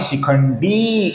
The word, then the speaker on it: शिखंडी: शिखंडी का जो डी है ये दीर्घ है, इसका हमें शिखंडी ऐसा दीर्घ उच्चारण करना है।